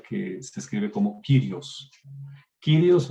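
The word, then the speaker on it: κύριος: Kyrios, o se puede pronunciar como Kurios también. Más agradable es Kyrios, más correctamente es Kyrios.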